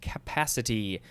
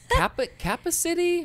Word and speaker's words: capacity: when i was younger i had a problem pronouncing the word capacity i would see it in an elevator i'm like kappa city cabin city kappa city uh but no it's capacity uh and then we